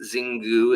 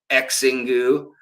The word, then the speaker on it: Xingu: from the Xingu River, spelled with an X, Xingu, it looks like, or Xingu, down in Brazil.